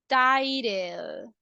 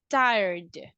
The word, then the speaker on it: tired: you guys I am titled can I say that I am titled what do you think is that correct ah look we say tired tired we don't say